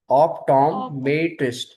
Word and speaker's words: optometrist: We will make a little stress on Tom. Optometrist.